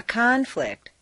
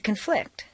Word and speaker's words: conflict: In the list below, change the stress from the first syllable for nouns to the second syllable for verbs. This is a regular, consistent change. Intonation is so powerful that you'll notice that when the stress changes, the pronunciation of the vowels do too.